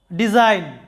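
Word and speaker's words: design: এখানে ডি একটি সিলেবল, জাইন আরেকটি সিলেবল। তো জাইন সিলেবলের মধ্যে আমাদের কি আছে, যে এন, তার আগে জি, এন এর আগে জি থাকার কারণে জাইন সিলেবলটিতে জি এর উচ্চারণ হয় নাই।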